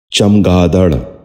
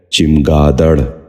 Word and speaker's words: چمگادڑ: غور سے سنیے، چمٹنا۔ چھٹا لفظ ہے چمگادڑ۔ یہ غلط تلفظ ہے، اس لفظ کا درست تلفظ ہے چمگادڑ۔ دوبارہ سنیے، چمگادڑ۔ بچوں